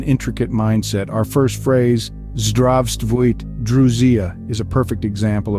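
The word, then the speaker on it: Здравствуйте: The most common Russian greeting is Zdravstvuyte, pronounced as Zdravstvuyte.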